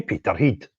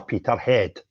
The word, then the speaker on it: Peterhead: I'm off to Peter Heed or Peter Head as our English friends pronounce it for their United Protest, which is at Drummer's Corner at 12 noon.